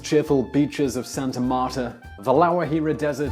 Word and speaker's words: La Guajira: This is Colombia… The long and cheerful beaches of Santa Marta, La Guajira Desert [Pronounced: la wha-hee-ra]; the inaccessible Leticia, capital of the leafy Colombian